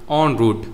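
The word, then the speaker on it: en route: कहते हैं ऑन रूट ऑन रूट यह इ एन है, लेकिन इसे पढ़ते हैं ऑन।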